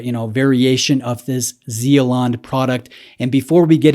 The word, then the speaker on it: Zealande: play that for you so zealand that's how you say it i'm going to do